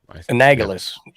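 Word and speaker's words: annulus: he says anag anulus how do you say that word analogous anulus just don't say it with a long a okay let's it's family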